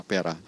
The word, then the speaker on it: pearà: su altezza sua maestà la pera e la rima e l'accento non sono casuali